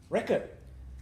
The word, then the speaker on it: record: Record is a noun. As a verb, it is record.